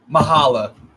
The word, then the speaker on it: Mahala: Mahala. Mahala. So Nuruddin, when you see my name, ignore the C. Okay, The Mahala. C is not there.